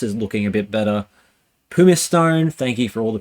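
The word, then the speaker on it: Pumicestone: fire labor loss is looking a bit better pum Stone thank you for all the people who told me how to pronounce that is actually looking all right for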